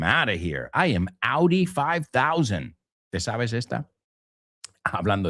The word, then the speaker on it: Audi: I'm Audi, guys, que es Audi, right? Pero se pronuncia como el coche.